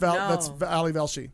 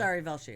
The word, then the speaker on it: Ali Velshi: No, that's Ali Velshi. Yeah, that's Ari Velshi. No, Ali. Well, I'm saying the right name wrong.